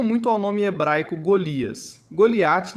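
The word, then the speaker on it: גלית: Goliat na pronúncia hebraica.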